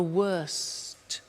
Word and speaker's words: worst: Notice the T. Bad, worse, the worst. Don't forget to pronounce the T.